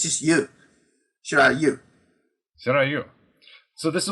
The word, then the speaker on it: Shirai Ryu: does some of the Shiryu. Am I saying that right? Shiryu? Well, they always say Shirai Ryu because they don't know how to pronounce Japanese words. It should be Shirai Ryu.